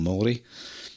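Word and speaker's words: Māori: indigenous population of uh maori people um you probably heard them called maori but the the correct pronunciation nowadays um is called mori and um it's not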